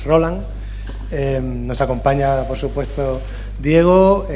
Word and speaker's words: Rolán: nuevo jugador diego rolán por cierto que no lleva tilde es roland nos acompaña por supuesto